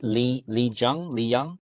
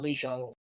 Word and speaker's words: Lee Jung: But what I did really like about that scene was how is it Lee Young? We're pronouncing his name. Lee Jung.